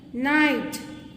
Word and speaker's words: night: See here also GH is silent. Okay. Light. Silent. Might. Silent. Night.